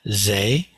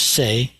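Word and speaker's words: 世: And in Chinese, it's Kuan Yin or Kuan Shi Yin. So it's always this character here, which is pronounced shi in Mandarin. It's pronounced se in Korean, and it's pronounced ze in Japanese.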